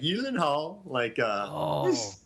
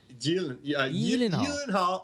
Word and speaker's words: Gyllenhaal: Gyllenhaal. Like, you don't really pronounce a G too much. Gyllenhaal.